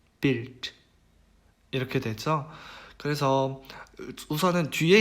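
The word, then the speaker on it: Bild: 그래서 이것도 일반적으로 쓰이는 발음과 그다음에 단어의 끝에 왔을 때의 발음이 달라요. 그래서 한번 읽어보면은요. builder, builder, built, built 이렇게 되죠.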